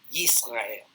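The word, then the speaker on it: ישראל: Even though the Hebrew word for Israel is pronounced Yisrael, always has that consonantal y sound in the beginning.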